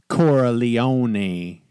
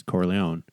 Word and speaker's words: Corleone: fact that he always clearly intentionally mispronounces cora leone just to tick off michael and show that he doesn't care even though you can tell he knows okay you know it's corleone and i know it's